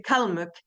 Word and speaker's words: Калмык: And in Karlsruhe, we say the Kалмыk. We pronounce on the first part of the word.